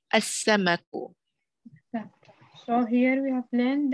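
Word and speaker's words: السمك: Al-samaku becomes as-samaku.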